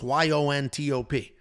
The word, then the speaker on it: Llontop: James Llontop, and I'm writing this phonetically in my notes, Yontop, and that's just how